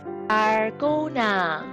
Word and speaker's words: Dalgona: How to pronounce it? Follow me, please. Dalgona.